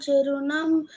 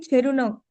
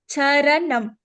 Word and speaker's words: चरणं: I don't know why you're saying Cherunam. Charanam. Charanam. Say, चरणं not che. Cha.